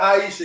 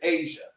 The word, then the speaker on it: Asia: She says not Aisha, it's Asia, pronounced like Asia.